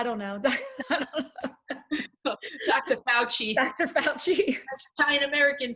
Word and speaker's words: Fauci: Fauci. Italian American Fauci. Right? People are pronouncing it Fauci. Oh, I've it hurts my seen ears. It hurts my ears.